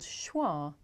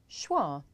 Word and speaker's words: schwa: John no not really it's actually called schwa schwa which is pretty strange when you think about it because the word schwa doesn't have the schwa sound in it so why is this